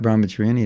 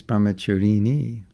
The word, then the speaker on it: brahmacharini: say brahmacari brahmacari brahmacharini but it's not brahmacharyani it's brahmacharini anyway i'll forgive you for